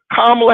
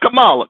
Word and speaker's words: Kamala: be clear what sister kamla har let's pronounce her name is kamla not Kamala kamla Harris Howard University said